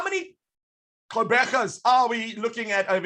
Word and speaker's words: Quebecer: How do you say it? Quebecer.